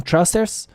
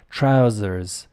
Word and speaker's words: trousers: me in the comments were you saying trusters uh or are you able to say trousers see I don't stop